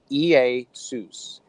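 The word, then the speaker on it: Ἰησοῦς: EA Seuss okay so in the Greek it would be pronounced EA sous EA sous so that's Greek so all we're doing is doing phonetics so EA sous sounds like Jesus ei sous Jesus just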